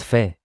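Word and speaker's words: פ: Of course, the Bet becomes Vet, the Kaf becomes Chaf, and the Peh becomes Fe.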